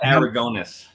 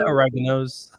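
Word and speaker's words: Aragonés: Sergio Aragonis. Thank you. I'm just sitting there listening to how he pronounces each. Yeah, that was. I always called it Oreganos.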